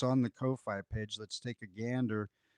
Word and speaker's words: Ko-fi: out on at our Ko-fi, and I I don't know if it's cough, like rhymes with coffee, like Kofi, but I say Ko-fi cuz it's rhymes with hi-fi, and I and this is definitely a hi-fi album.